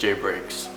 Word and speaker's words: JBreaks: Now my username is very simple, some people get it confused, but to pronounce it, it's simply just JBreaks.